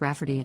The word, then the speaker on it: Rayfarty: to name my niece Rayfarty, pronounced Rafferty, not at all like Rayfarty.